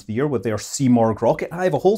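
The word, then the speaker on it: Simorgh: the year with their c mark rocket i have a whole separate video on that where i totally mispronounced its name as cymorg the whole time but now i've learned uh but yes that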